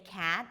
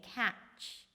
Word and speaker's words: cat: Instead of saying cat, you may hear someone saying catch.